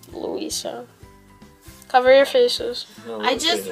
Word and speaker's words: Luisa: okay there and then the next one is luisha it's louisa not louisa louisa it's louise it doesn't go drip drip drop whatever it's how's it go it's pronounced luisa cover your faces i